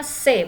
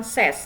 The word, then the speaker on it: ses: Dibacanya se bukan ses.